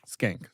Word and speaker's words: Schenck: Joe Schenck, Schenck? How do you say it? Skank. Skank.